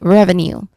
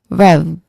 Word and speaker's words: revenue: When it comes to pronunciation, the stressed here is still on the first syllable. Rev. Rev. That's the stressed syllable. So we take it as that. Now um if I try to separate the three distinct sounds here, let's start with the stressed syllable. Very easy. Rev. It sounds like uh rev as in uh as in engine rev revving revving. So it sounds like revving.